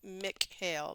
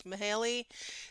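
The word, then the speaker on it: Mihály: Mihaly, I want to call him Mick Hale, but it's Mihaly, Csikszentmihalyi.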